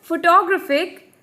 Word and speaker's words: photographic: stressed in this case photographer in the word photographic there are Force labels and the third one